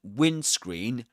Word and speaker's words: windscreen: And in the word windscreen, you don't pronounce the D.